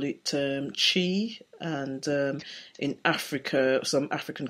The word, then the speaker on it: qi: People might be familiar with those terms, like chi energy, or is it chai energy? What's the correct way to say it, Anne? So I'm not very familiar with the African cultures, right? But in China, exactly like you said, it's the qi, yes, which is the